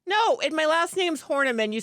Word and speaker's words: Horneman: is that canadian no and my last name's hornaman you spell it like a is horny man's my